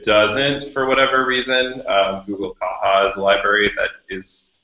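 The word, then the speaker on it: caja: Also, often mispronounced Kaja because it's Kaha.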